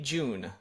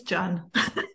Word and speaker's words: Jun: Pacheco and today with me I have June uh did I pronounce that right I think ah ish it's John John okay I'm pronouncing it okay I I